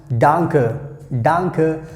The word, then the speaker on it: danke: That's how we have to pronounce danke.